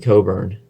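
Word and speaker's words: Cockburn: And then they have the big guy, Kofi Coburn. No, it is not pronounced the way it is spelled.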